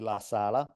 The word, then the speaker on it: LaSala: case at least, like the way I would pronounce it with my heavy Italian accent would be LaSala. That would be, Perfect. Perfect. but also LaSala is like it's basically an Italian name.